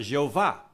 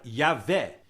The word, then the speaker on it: Javé: onde surgiu a palavra Jeová mas é um é um erro porque o J é pronunciado como y e o ver se